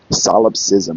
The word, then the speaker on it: solipsism: First of all, how do you even pronounce it? Let me hit the plate. Solipsism. Okay. Solipsism.